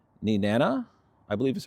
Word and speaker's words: Nenana: Additionally, there's another station in Alaska in, let's see how to pronounce it, Nenana, Nenana, I believe is how it's pronounced, Alaska.